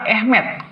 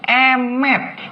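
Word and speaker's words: אמת: Guys, kalau kalian bisa bahasa Ibrani dan bisa baca bahasa Ibrani, ini tidak dibaca Ahmed, bacanya tuh Emet. Ini bacanya bukan Ahmed, tapi Emet.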